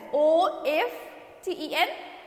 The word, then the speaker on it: often: And under it आई ऑफन, OFTEN, often means OFTEN, often. It's not often. Okay, it's often, OFTEN. We pronounce it with often. Okay, T will be silent.